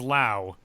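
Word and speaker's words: Lowe: Nathaniel low or low. What which one do we decide for Nathaniel? He's low. And he's low. Brandon Lao. And then Brandon is Lao and it's spelled the same.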